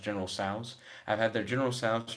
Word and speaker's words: General Tso's: I've tried their General Tusos. I've heard it's actually pronounced General Tso's.